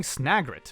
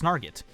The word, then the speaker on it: snagret: The burrowing snagret, which I always used to pronounce snarget.